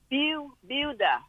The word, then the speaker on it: Buda: Rachel, is it Buda, Texas? Is that how you pronounce it? It's Buda.